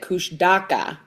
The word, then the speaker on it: Kushtaka: Kushaka, which it's spelled K U S H T A K A, but you pronounce it Kush Daka.